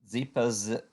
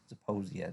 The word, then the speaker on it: Zeposia: Uh, Bristol Myers, a new drug, Zepoz, I can't even pronounce it, Zeposia. The FDA approved it today. So it does have a little bit of a bid. Zeposia, there you go, that's what you call it.